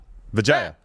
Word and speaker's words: Vijaya: This is the same thing that we dealt with Vijaya. I always want to say it correctly because it's a little close to Vagina Gap. No, Vijaya.